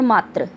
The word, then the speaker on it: मात्र: देखिए, मातृ और मात्र, इनका उच्चारण अगर हम सही ढंग से करें तो हम इनके अर्थ को ज्ञात कर सकते हैं, लेकिन अगर हम जल्दी